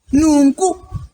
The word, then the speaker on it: nungu: How do we Porcupine in Shona we say Nungu.